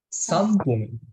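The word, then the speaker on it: 三分: Sampung, Sampung. Sampung. moichido, sambung. Sampung. Nah, ini di sini kan ada huruf N di tengah-tengah. Ketemu P. Dibacanya M. Jadi sampung.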